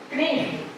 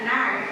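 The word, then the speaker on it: knife: Knif. Nard. Nard. K-nya enggak usah dibaca. Nard.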